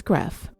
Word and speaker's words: Graeff: Sherri's maiden name is Greff, and it's spelled Graeff. I looked up the pronunciation, and what you hear is what you get.